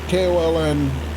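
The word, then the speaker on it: Köln: Koln is spelled Cologne, or pronounced Cologne.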